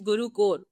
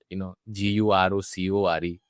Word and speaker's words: GuruKore: It's GuruKore. Huh. Core is fine. Yeah, I mean, it's actually, when you pronounce it, it sounds like it should be a C.